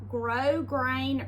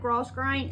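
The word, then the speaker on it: grosgrain: I have two pieces of grow grain ribbon. I said gross grain and somebody emailed me and told me I was pronouncing it wrong.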